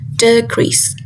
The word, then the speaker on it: decrease: For example, in the word banana. Banana. The stress falls on the second syllable which is n and